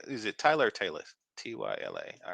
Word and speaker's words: Tyla: Tyla.